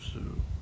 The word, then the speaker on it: Sioux: I call them the Sioux Crew because, well, crew rhymes with Sioux.